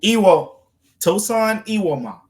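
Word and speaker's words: Tosan Evbuomwan: gotten it on the first try there Michael E tosan ewma yeah that's how it's pronounced and he's kind of sort of your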